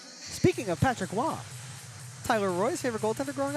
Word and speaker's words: Roy: Speaking of Patrick Wah, Tyler Royce, favorite goalender growing up, Patrick W. Roy Wah makes sense, right? Spelled the same, said differently.